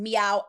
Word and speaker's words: Miaou: Now, I personally think like Nika reminds me of a Meow is the way you pronounce that brand. Meow ad.